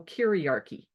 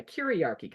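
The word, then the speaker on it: kyriarchy: many of you know karchy k y r i a r c y karchy kind of rhymes with patriarchy to show the close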